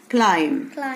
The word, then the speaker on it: climb: كلايم.